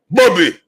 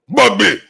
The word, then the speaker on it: Bobby: I don't like the way Africans say my name, Bobby. Bubby.